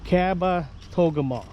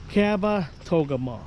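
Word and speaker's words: Kabetogama: I asked the ranger how to pronounce this and apparently it's Kaba Togam. Cabba Togam. So Lake Caba Togeama. Caba Togeama. Lake Visitor Center. So that's how you say it. Caba Togam.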